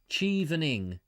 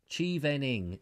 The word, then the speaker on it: Chevening: of chevroling chip i can't even carry on pronounce this chivalry what is this cheevening chivening yes thank you i know i'm struggling i'm